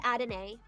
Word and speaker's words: Adonai: Neo, I actually looked up the pronunciation before we got to this, and the places that I looked had said Adonai.